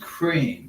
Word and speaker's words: Ukraine: even knows that and it's pronounced crane because they had the